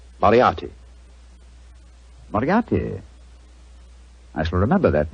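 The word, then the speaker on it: Moriarty: mispronounce it i'm afraid i'll have to begin calling it the way it looks m o r i a r t y mariarty i shall remember that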